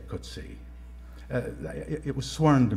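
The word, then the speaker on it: Coetzee: Prize novelist JM koty I know about six pronunciations of his name uh I'll just say kuty uh it was sworn to me by somebody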